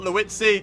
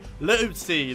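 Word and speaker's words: Liuzzi: That's how you say his name. Not Leutzi. Leutzi.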